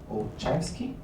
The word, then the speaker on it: Olszewski: Bom, vamos agora conversar com a Olszewski. Did I pronounce correctly? Yes.